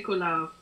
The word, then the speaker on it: Collard: C'est Collard ou Collard? Je ne sais pas très bien maman Marie-France. I'm not sure how it's pronounced. I'm just pronouncing it how it's written. C'est Collard, en fait.